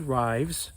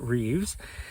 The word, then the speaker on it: Rives: a gentleman named Richard Rives uh but I think he pronounces it Reeves and he's gone through